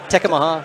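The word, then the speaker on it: Tekamah: Tecuma, Nebraska, is that how you say it? Tecamaha, not Tecamaha.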